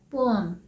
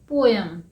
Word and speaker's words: poem: लेकिन हम इसे क्या बोलते थे? पोएम, POEM, पोएम। लेकिन इसका सही प्रोनाउंसिएशन है पोअम।